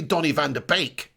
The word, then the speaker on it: Donny van de Beek: in the netherlands so he's taught me how to pronounce donny van der beek correctly it's actually donnie van der beek isn't that right neil matt rash thank you